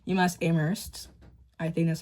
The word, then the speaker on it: Amherst: So I want to go to UMass Amherst or Amherst. Some people say to not pronounce the H. UMass Amherst.